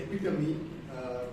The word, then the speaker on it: epitome: I think one word here is that the word EPITOME should be epitome, that is the right pronunciation.